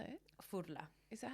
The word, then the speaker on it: Furla: Furla, as people say. How do you say it? Fudler.